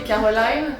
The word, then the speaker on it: Caroline: Because it's such a French name for me Yeah. too, that I just have the, how do you say, reflex, the habit to just say To Caroline. say it in the French way.